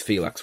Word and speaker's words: Felix: or mile Liberata and Felix it is Felix right I'm not buttering that up yeah Felix yeah it's like relax but yeah Felix okay